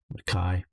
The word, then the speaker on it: Mackay: Mackay is just pronounced Mackay. Yeah, I gotta make sure I sort of do a somewhat Scottish pronunciation of Mackay, Cairns, and think in those terms.